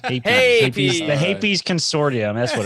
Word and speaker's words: Hapes: Jared says pronounced Hapies. Hapies.